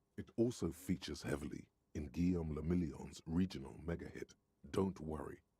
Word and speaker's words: Guillaume le Million: Guillaume le Million. What? If it doesn't rhyme, you're not pronouncing it right.